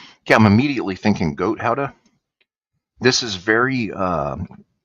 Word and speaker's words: Gouda: Most Americans say it's Gouda, but in Holland it's pronounced Gouda after the town of Gouda.